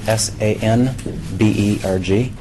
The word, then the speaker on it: Sandberg: I'm Sandberg, Executive Director for Sunrise Children's Foundation, and it's SANBERG.